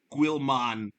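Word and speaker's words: Guilliman: of the ultramarines roboot Gilman that's how guilman is how you pronounce his last name I don't know how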